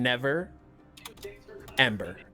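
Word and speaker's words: Neverember: No, my name is Never Ember. Ah. How do you spell that? and then Never Ember, Ember. It's like never remember. Because I never remember.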